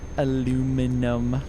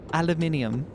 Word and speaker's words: aluminium: That's my Would you still love me if I say aluminum the American way? Um, I will. I will I will teach you to say it correctly though. Aluminium. It just sounds nicer, you know, aluminum rather than aluminum.